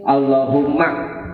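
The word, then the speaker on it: اللهم: Oh itu Hamzah iya bukan hamzah Jadi bacanya Allahumma allahum berarti ya Iya allahum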